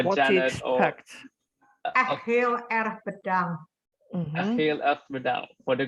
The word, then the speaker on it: Heel erg bedankt: Heel erg bedankt.